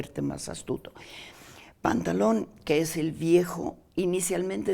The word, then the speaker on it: Pantalón: Nos decías, María Pía, que entonces el nombre de Pantalón, originalmente el personaje se llama Pantaleón. Pantaleón, pero pronunciado a la veneciana, Pantaleón. Entonces la E desaparece, usa un vestuario comiquísimo